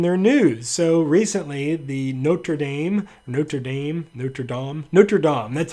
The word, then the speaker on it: Notre Dame: So recently, the Notre Dame, that's how you say it, cathedral burned, and I found out about it by looking at Facebook.